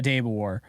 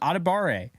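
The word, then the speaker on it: Adebawore: But in this draft, real draft, I would go a Debawar. Oh no, I'm saying it wrong. Adebare.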